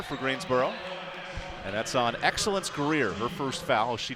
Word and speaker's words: Excellence: And that's on Excellence Greer, her 1st foul. She checks in a minute ago. Excellence Greer, by the way, that's spelled with an XT. The X is silent in excellence.